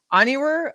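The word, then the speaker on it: Onyenwere: I can't even know how to pronounce her last name. I'm sorry. From Liberty. No. Onyewer.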